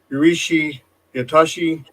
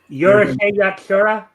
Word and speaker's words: Urusei Yatsura: I butchered this so bad. Yurishi Yatashi, the original first animated series that the wonderful lady who created Inuyasha and Ranma. Yurusei Yatsura?